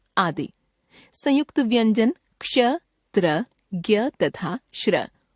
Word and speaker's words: ज्ञ: ज्ञ वर्ण, यह वर्ण ज जमा इय जमा अ ध्वनियों का संयुक्त रूप है। इसके उदाहरण हैं आज्ञा, यज्ञ, ज्ञान, विज्ञान आदि। हिंदी में इसका उच्चारण ज्ञ ग जमा य के रूप में होने लगा है।